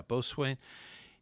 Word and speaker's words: boatswain: Yeah, boatswain. It's an SPL of Sea Scouts. Yeah. Okay, so a bosun and a boatswain, same.